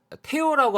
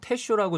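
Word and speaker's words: Tello: 이번 심판은 팝콘도 텐쇼인데요 원래는 이제 태오라고 아마 많이 얘기를 할 거예요 근데 아르헨티나 뿐이라서 테쇼라고 저희가 발음을 하는게 원래 발음에 가깝긴 합니다 공식적으로는 태우 심판의 배정이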